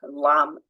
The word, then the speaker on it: lamb: so not um so like crumb lamb ending in a b where we wouldn't think there would be one and that's silent h